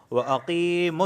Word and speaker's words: وَأَقِيمُوا: تَعْمَلُونَ بَصِيرٌ۔ اچھا، اب میں اس کا صحیح تلفظ کر لیتا ہوں آہستہ آہستہ۔ وَأَقِيمُوا الصَّلَاةَ، دیکھیں وَأَقِی یا ساکن سے پہلے زیر